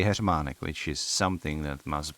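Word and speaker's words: heřmánek: Henry today right so kamile uh we say h manic which is something that must be hell to pronounce for English speaking people because this one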